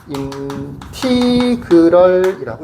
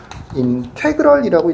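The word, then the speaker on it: integral: 요거를 인티그럴이라고 읽어요. 보통 인테그럴이라고 읽기도 합니다. 여기서 책에 교재 우리 교재에는 뭐라고 돼 있냐면 인티그럴이라고 돼 있어요. 인티그럴 나는 보통 인테그랄이라고 읽기도 합니다.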